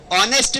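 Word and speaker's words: honest: ऑनेस्ट मैन, यहाँ पर letter चाहे कॉन्सोनेंट हो, लेकिन इसका उच्चारण क्या है, वो ऑनेस्ट है, ओ है, एच साइलेंट है, तो यहाँ पर क्या आ जाएगा, एन आएगा।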